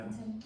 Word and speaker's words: Antony: As I pronounce it right? Oh, yes, yeah. Antony, yes.